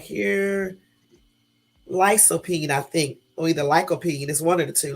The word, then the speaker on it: lycopene: I would have said I would have said lysopene or the lycopene but I'm glad I found it on Google because the correct way to say it is like cold P so anyway um lycopene